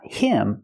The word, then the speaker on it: him: hear the pronunciation not him but gave him gave him the H in him is silent because the word's not stressed he gave him the